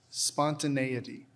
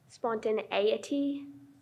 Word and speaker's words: spontaneity: Your word is spontaneity. I'm just thinking of it. Okay, can I have the definition, please? The quality or state of being unconstrained or impulsive. Spontaneity.